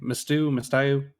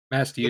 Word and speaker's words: Masthew: Mastayu? Masthew. It's Masthew. exactly And what you're thinking. It's like the ship, mast, hewn.